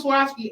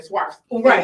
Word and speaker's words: Swarovski: i found a swastika crystals which somebody from swarovski actually trained me to say it correctly because i was saying swipes right like no that's not it's like swear yeah